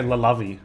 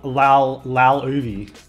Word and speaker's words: Laluvi: Or would you say Lalovi? No, Luvi. Oh, Laluvi. Laluvi. That's how I'd say it.